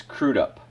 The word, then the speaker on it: Crudup: crudup is it stard it is crudup crudup crudup it was uh German used to be spelled with a K and there was an uml over the u y that was it so uh they they they cut the part so now it's just crude up after a lifetime of